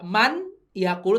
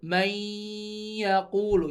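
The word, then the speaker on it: مَن يَقُولُ: Nah, ini walaupun tulisannya man yaqulu bacanya may, enggak man yaqulu tapi may yaqulu ya. Soalnya di sininya ada tasydidnya.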